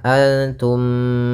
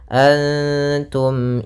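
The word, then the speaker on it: أنتم: namakan dengan izhar syafawi cara membacanya adalah suara mimnya tidak boleh ditahan Antum tidak boleh seperti itu tapi jelas Antum a pada lafal illa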